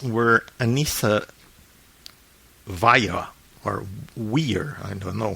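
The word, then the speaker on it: Weier: Okay, so it's Anissa Weir, or Vaya in German, and Morgan Geyser, same thing.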